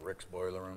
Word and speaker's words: RX Boiler Room: Well, RX Boiler Room, and we like to pronounce it Rick's Boiler Room.